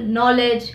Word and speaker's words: knowledge: at the beginning of the world for example knowledge knight knife moving on to the next letter